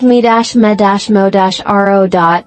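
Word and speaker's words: 見守る: Mimamoru, pronounced me-ma-mo-ru, it translates literally as to watch and protect.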